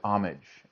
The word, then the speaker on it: homage: 11, even more than homage. Or is it homage? I guess I'm in America, so we pronounce the H. Homage.